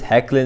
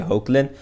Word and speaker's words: Hoechlin: or hecklin as superman they pronounced as heckling in the panel but i usually say oakland but i don't know